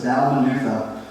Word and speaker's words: Dalmanutha: Yeah, sometimes even the pastor gets confused by how you pronounce some of those wild words, right? But it's Dalmanutha.